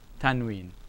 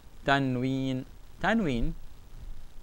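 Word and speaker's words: تنوين: noon has no vowel, so it's tan, tan. Wow, with a kasra is we. And you have the ya has nothing, alright, it elongates. So you get we, and this noon, n. Tanween.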